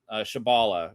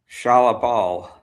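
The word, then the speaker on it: Shalla-Bal: Shabala, or is it Shabala? Shalabal. I mixed the wrong emphasis with the wrong syllable.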